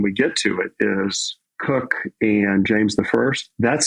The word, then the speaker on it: Coke: going to have to explain why c-o-k-e is pronounced cook yeah I'm curious about that all I can